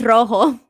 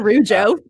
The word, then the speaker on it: rojo: Wait, no, it's rojo. Rojo. Not rujo.